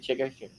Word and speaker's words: Chikadze: The main event is Edson Barboza versus Giga Chikadze. Is that how you say it? Chikadze?